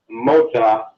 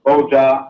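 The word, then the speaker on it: mogya: So the term for blood, moja, M-O-G-Y-A, moja, is also written and pronounced with the B, moja, because boja and moja, one with the B, one with the M, interchangeable.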